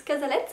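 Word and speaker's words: Cazalet: Des prénoms, genre les Casalets, ça se prononce Casalettes apparemment.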